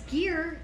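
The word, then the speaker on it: GIR: They're called Gear, but they're spelled like Gurr. And don't say Gurr on Instagram because they won't reshare your stuff because you lose credibility. Say their name wrong. It's Gear.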